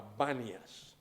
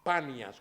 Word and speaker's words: Banias: banias se llama banias el nombre reales panas con p pero los árabes no pueden pronunciar la p los árabes no te dicen Pedro te dicen Pedro no te dicen pan te dicen van y por eso el nombre en lugar de ser panas es banias para ayudar a los árabes a que la pronuncien bien allí el señor revela